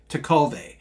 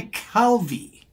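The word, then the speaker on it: Tekulve: Pittsburgh says yeah I it's my understanding it actually should be the way you say it to Cove but in Pittsburgh it is Kent Hardy to Calvi oh so he went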